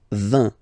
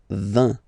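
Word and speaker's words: vingt: And the last one, so this G letter is here, but you don't pronounce it.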